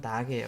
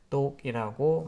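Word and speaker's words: Dock: 작업 표시줄 테스크 바를 여기서는 딱음 발음은 딱이에요 근데 보통 이제 우리나라에서는 독이라고 많이 얘기를 하죠 독이라고 자 아 독에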